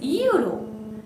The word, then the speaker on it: euro: We say, listen to the pronunciation very keenly. It is euro. Euro means, again it starts with YU. Pronunciation begins with YU.